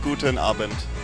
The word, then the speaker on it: Guten Abend: In German it's Guten Abend.